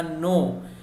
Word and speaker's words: know: लेकिन आता है यानी आना, उसके लिए यहाँ पर नो, KNOW उसका प्रोनाउंसिएशन होगा नो।